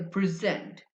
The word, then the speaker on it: present: But if you say present, I'm here to present my presentation on pronunciation. So the stress on the second syllable present makes it a verb.